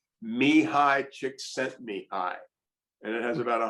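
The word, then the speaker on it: Csikszentmihalyi: is and this is apparently the correct grenade pronunciation me high chick sent me i and it has about a hundred letters basically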